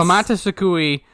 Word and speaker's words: Komatasukui: Oh yeah, that's Komatasukui.